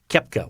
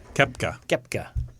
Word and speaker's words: Koepka: Koepka. I know. The O is silent for some reason.